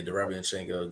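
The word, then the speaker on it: Derevyanchenko: But this a younger version and a bigger version of a Derevianchenko. Did I say it right? Yeah. Okay. Yeah, Derevianchenko.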